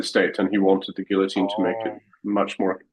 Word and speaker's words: Guillotin: There's no E on the end. Yes. But guillotine is spelled with an E, at least in English. And Gillon Gillon is spelled without any.